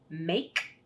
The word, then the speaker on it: make: All right, so again, Jordan, today we're doing the silent E, and silent E makes A say its own name in, watch mom, 8, made, make, came.